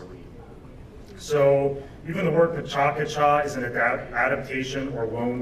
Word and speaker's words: PechaKucha: Whitehead has a variety of forms, and one that I believe Hayes invented himself is called, I call it the Pechakucha, but it's actually pronounced Pachakacha.